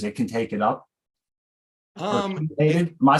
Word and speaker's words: chelated: Chelated? Am I saying it wrong? Chelated. I'm sorry. My wife's all it's written chelated with a CH, but it's pronounced chelated like a KEY.